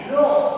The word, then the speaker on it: rho: कि सहसंबंध गुणांक का जब हम उच्चारण करते हैं तो ये जो सिंबल्स दे रखा होता है संकेत चिन्ह, इस संकेत चिन्ह को हम क्या कहते हैं? रो। RHO रो।